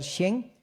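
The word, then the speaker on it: חֵן: Y esa palabra gracia es la palabra en hebreo kahin, o también se podría pronunciar shen, que viene de una raíz que significa doblar, inclinarse, postrarse, ¿ok?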